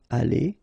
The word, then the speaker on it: allées: So you'll put this s, you don't pronounce it, but still you need to put it. Okay, elles seront allées.